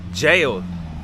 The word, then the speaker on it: gaol: Because it's Cork City Jail. Even though it's spelled G-A-O-L, it's still pronounced jail.